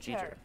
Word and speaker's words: Jeter: Jeter. Like Derek Jeter.